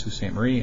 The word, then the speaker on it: Sault Ste. Marie: It's spelled S-A-U-L-T, but for some reason it's pronounced Sault Ste. Marie, and then Lake Superior.